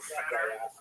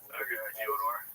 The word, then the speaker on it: Fyodor: I'm like, yeah, well, that's kind of the accepted American pronunciation of Fyodor, though. So I wanted to ask you if it was Fyodor.